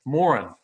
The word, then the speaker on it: Morin: We're all saying it wrong, Coach. Morin. Here's how we have to remember that. How much did you have, son? I don't know, but I know I had more than he did.